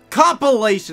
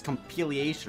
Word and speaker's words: compilation: Compilation! I thought it was compiliation or something like that.